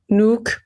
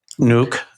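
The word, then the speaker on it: Nuuk: So I was looking at the city of Nuke I believe that's is that the proper pronunciation? Nuke Nuke.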